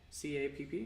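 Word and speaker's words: Capp: Joseph D, I believe it's pronounced Cap, C-A-P-P?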